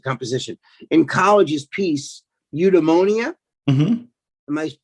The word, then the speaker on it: Eudaimonia: In college, his piece, Eudaimonia, am I pronouncing that right?